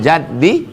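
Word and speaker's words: جَدّ: wa la yanfa'u dzal jaddi minkal jaddu. Man jadda bi fathil jim, cara membacanya jimnya baris fathah, jad artinya al-hazzu, hazzu artinya beruntung.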